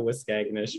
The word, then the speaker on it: Waskaganish: so apologize, Scott, if I get this wrong, Waskaganish, located in the actually, Scott, turn your mic on, tell the kids, how do you say it? The Cree Nation of Waskaganish from the EUST region.